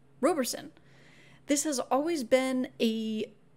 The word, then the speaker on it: Roberson: should pronounce the name Roberson this has always been a bit of a fun debate for staff some say robe others say Robb some say tomato others